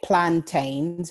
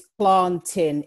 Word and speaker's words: plantain: Some people call it plantains, but just as a little planting. That's how you say it then. Plantain. It's planting. It's a bit like saying Great Britain. It's Great Britain.